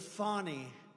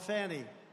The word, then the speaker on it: Fani: Many, many people, their lives have been destroyed because of Fani, F-A-N-I, Fani. You have to pronounce it Fani. It's called Fanny. You have to pronounce Fani.